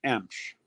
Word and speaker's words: Emch: It's pronounced Emch.